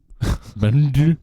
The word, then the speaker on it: Bend: do you say that bent bent just bent it's a silent D Bend Bend Bend yes B